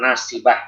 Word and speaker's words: ناصبة: Yang nasibah itu sendiri nasi. Betul ya. Amilatun nasibah. Nasi. Bukan nasi. Ya, kalau nasi antum sering makan nasi kan. Ini nasi. Sot ya, bukan sin.